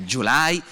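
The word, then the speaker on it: Gyulai: ungherese il conte july si pronuncerebbe july credo in ungherese ma gli italiani dicevano allora e al sempre poi detto july si cantavano anche le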